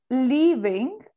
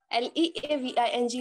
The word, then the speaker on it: leaving: about it again okay incorrectly again yes so syllable little accent syllabus okay okay and the difference between leaving and living l-i-v-i-n-g living l-e-a-v-i-n-g living leaving little more stress little more stress